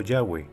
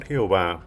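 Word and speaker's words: Yahweh: nombre y og jeff debe ser pronunciado ya ve la pronunciación jehová fue desconocida en los antiguos círculos judíos y estaba basada en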